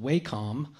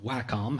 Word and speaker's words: Wacom: That kind of ties us into another sort of similar tool by a company called Wacom, or Wacom, however you want to pronounce that.